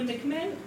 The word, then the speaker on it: McMahon: However, the McMahon, I understand it should be pronounced, the McMahon correspondence, which forms the